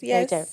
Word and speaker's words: Lheritier: Tell us, I don't even think I said that correctly. Lheritier? Is that how you say it? Lheritier. Yes.